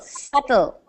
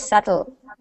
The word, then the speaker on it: subtle: not say the b the B is silent okay does everybody know